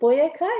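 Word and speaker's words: Boyacá: presentation and i think i pronounced it boyeca is that the correct pronunciation yes you're right it's a tongue twister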